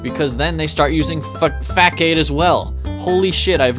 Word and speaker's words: Facade: People say Facade, but there's no accent on the C. There's no cedilla, if you will. So I know how you're supposed to say it. They meant for us to say Fack-Aid.